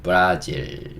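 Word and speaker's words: Brazil: B 는 'b', 그 다음 은 R('r'), A 는 'uh' 와 비슷하고 , Zil 은 'z', I 는 'e', L 은 'l' 입니다 . 이렇게 발음 하세요 . " 브라 " 처럼 발음 하세요 .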